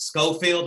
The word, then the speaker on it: Scofield: a unique last name is it scofield did i say it correctly yeah you nailed it all right mine is